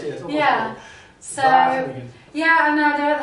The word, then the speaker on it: Wageningen: this year I'm playing in how do I pronounce it? Wageningen? Wageningen. Yeah, yeah, close. Almost ready. Yeah. Almost close, yes. Almost Yeah. ready. So Wageningen.